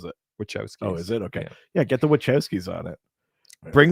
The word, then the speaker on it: Wachowskis: batman fatigue that they're like well get the watkowskis on it which was keys so did i pronounce the wrong workout skis is what you